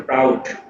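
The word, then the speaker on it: Prout: অনেকেই টাউট হিসেবে তাকে উচ্চারণ করার চেষ্টা করবেন অথবা মনে রাখার চেষ্টা করবেন। আবার বলতেছি এটা কিন্তু টাউট না, এটা হচ্ছে প্রাউট।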